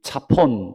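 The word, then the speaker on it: צפון: 여기서 이 북방이라고 번역된 단어를 찾아보니까 이 차폰 또는 이제 짜폰이라고 발음할 수도 있는데 이 짜폰이라고 하는 단어입니다.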